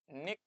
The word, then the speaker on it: unique: unique শব্দটো ভালকে আমি যেতিয়া pronounce কৰো তেতিয়া unique বুলি pronounce কৰো unique টো pronounce কৰোতে আমি এনেকে